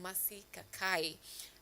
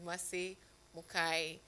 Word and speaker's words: Mari Mukai: sparked conversation that is Massi Kakai and um uh uh apologies Massie for mentioning your your name wrongly. It is Mari Mukai.